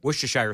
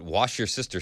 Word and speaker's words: Worcestershire: Worcestershire sauce. Oh, is that? All right, so do we have a pronunciation from the Google pronunciation lady?